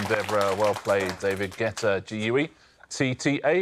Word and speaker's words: Guetta: Guetta. It's the correct answer. I like the way you're pronouncing it so that Debra can spell it. Spell Guetta or "Getta".